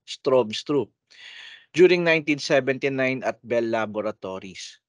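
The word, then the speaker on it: Stroustrup: bne strobes trop no yung letter u dito has a v pronunciation strobes trop during 1979 at Bell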